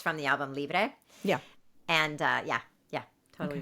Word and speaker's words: Libre: album, but she is with the one from Libre.